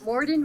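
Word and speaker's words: mordent: school motet and mordant Morden rhymes with discordance and motet is one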